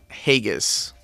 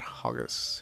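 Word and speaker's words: Hagus: vampire dude right here hagas not hoggers vegas i hope i'm pronouncing that right because they have a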